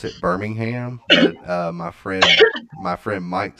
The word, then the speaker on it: Birmingham: yeah Alabama right yeah Alabama Aaron we we pronounce it Birmingham my friend my friend Mike says it's Birmingham